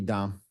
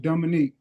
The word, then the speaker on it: Dominique: Dom, please stop saying Dom. Please stop doing that. Um, my name is pronounced Dominique, but since I don't see it over there in the blue, Mhm.